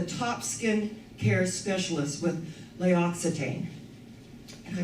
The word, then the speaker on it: L'Occitane: I loved it that Leisha Breen was voted that in the whole United States, the top skin care specialist with L'Occitane. And I pronounced it correctly, thank you, God.